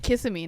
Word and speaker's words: Kissimmee: You used to, Kissimmee, not Kiss. What did you say? You say it like a fob, okay? I say it like I'm from Orlando, Florida. Kissimmee, Florida. Kissimmee, yeah. Kiss me.